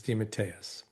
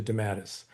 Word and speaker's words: DeMatteis: Okay, so the real authentic Italian pronunciation is Dimmitus. When my family came to America, as often happened, it got squashed into damatis.